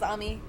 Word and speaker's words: Ami: Sal and Salem Mery that's how you pronounce it in Japanese is Amy God so correcto here